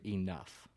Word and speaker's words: enough: the word enough. Yeah. The GH makes the F sound.